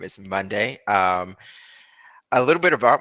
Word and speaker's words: Mondae: so like uh Tyler saying my name is Monday um a little bit about myself so I